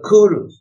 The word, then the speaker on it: Kuru: If you look at these ancient languages, it's a typical, they call it centum kentum, that sometimes they pronounce the C like K, sometimes they pronounce it like the S.